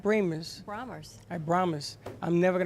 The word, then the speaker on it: Bramer's: Yeah, so how is it pronounced? Brahmers. Brahmers.